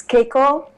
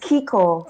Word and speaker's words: Keiko: And then I always say to people, it's Keiko, like J-Lo. I like it. I like that. Because, it's spelled out Keiko. So a lot of people pronounce it Keiko. Yeah. Keiko, like J-Lo. Yes. Keiko with a little A, right.